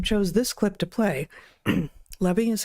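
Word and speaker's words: Levi: Lebby is how you pronounce his name.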